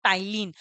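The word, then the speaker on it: ptyalin: टाइलिन भी कहते हैं अब इसमें पी क्या है साइलेंट है ठीक है तो यहां पर इसको क्या बोलेंगे आप टाइलिन अब टाइलिन क्या करेगा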